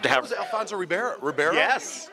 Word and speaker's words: Ribeiro: Was it Alfonso Ribeiro? Yes. How do you say his last name? Yeah, Ribeiro.